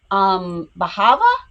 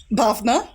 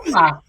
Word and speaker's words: Bhavna: Is it Bahava? Bhavna, hello. Bhavna. Oh, okay. Much prettier than the way I pronounced it.